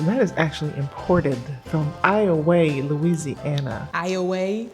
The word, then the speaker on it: Iowa: So that is actually imported from Iowa, Louisiana. Iowa? It's spelled Iowa, but it's pronounced Iowa from a place called Rabideau.